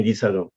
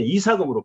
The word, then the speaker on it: 니사금: 니사금, 유리 니사금. 이 요새 한글 학자들이 우리는 니자가 오면 두문식상 안 돼가지고 전부 다 요새 이사금으로 발음시키는데 그 니예요, 니. 정식 발음은.